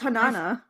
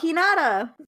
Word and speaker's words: Hinata: Who's Hanana? And Hinata. Am I saying it wrong? Oh, Hinata.